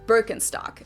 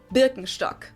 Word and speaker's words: Birkenstock: So English speakers usually say Birkenstock. In German, we say Birkenstock.